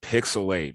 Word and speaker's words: PixelHate: right welcome back to pixel 8 where the H is silent but the hate is